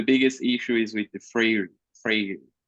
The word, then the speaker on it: Freire: So for us, we call Paulo Freire. We pronounce it different.